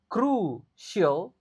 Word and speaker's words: crucial: Crucial. C. C yang pertama dibaca K, tapi C yang kedua dibaca S. Crucial. Lalu A yang terakhir dibaca E.